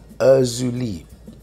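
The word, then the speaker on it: Erzulie: have pronounced that wrong let me pronounce that one more time urzuli spell e-r-z-u-l-i-e as you like uh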